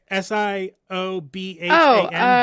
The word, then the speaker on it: Siobhan: S I O B H A N.